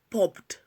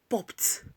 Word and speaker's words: popped: Not popped, popped. Not kicked, kicked. Not passed, passed. Why? Because ed is coming after voiceless sounds like f, p, k, s, and so on and so forth.